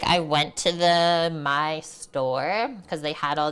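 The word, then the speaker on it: Maille: My? Is that how you say it? Or is it Mael? My, yeah.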